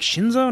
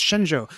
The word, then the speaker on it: Shenzhou: Yeah, I was like, Shinzo? No, it's Shenzhou. So you don't see it.